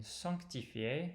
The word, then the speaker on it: sanctifié: And sanctifié has another nasal vowel. But just be careful that it is easy to lose the sanctifié. There's a consonant right after the nasal vowel, and it's easy to lose that.